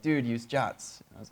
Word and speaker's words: JWT: I used to call it JWT until Derek called it jot and it was like, oh, jot. Okay, I guess that's what it's called. But yes, technically it's pronounced jot.